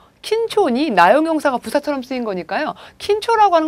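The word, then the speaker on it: 緊張: 자, 긴장은 킨초라고 읽어주시고요.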